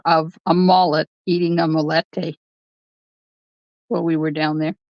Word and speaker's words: molete: have this dish down there um it's called molete and it's spelled m o l l e te and